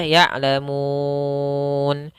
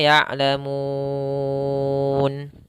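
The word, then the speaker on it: يعلمون: Panjangnya di sini bisa dua ketukan, empat ketukan, atau enam ketukan. Bisa jadi " ya'lamun," atau "ya'lamun," atau "ya'lamun.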